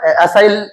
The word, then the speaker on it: acyl: असाइल, इसको एसिल भी बोल देते हैं। देखो प्रोनाउंसिएशन है असाइल, ACYL।